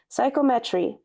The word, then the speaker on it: psychometry: Yes, that's how you say it, Taylor. Psychometry.